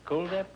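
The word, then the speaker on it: Kuldip: Is that the way you pronounce it? Cool Dip? Yes, it is like the word cool. Yeah, well, I had that this morning in my swimming pool.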